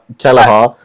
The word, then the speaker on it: Kelleher: Kelleher.